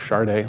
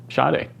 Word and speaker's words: Sade: I always thought it was Sade. Looked it up. I'm supposed to pronounce it Sade.